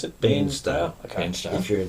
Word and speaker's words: Bairnsdale: Who's in Barnsdale, however you pronounce it. Bairnsdale.